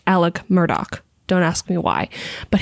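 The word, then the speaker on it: Alex Murdaugh: the thing it's written as Alex murd it's pronounced Alec Murdoch don't ask me why but his trial has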